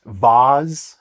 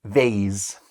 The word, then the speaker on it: vase: So yeah, and again, some people pronounce this vase. Some people pronounce this vase. So if you pronounce it as vase, it sounds much fancier anyway.